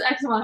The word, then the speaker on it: Ex Machina: Is that how you pronounce it? No, it's Ex Machina.